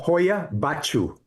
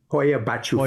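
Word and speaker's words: Hoia Baciu: Let's talk about and and I have a hard time pronouncing the name. I'm not Hoya Bachu Hoya Bachu Forest.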